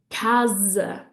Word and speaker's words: casa: But no, when an S comes between two vowels, it's going to make a Z sound. So I want to hear you say casa, casa.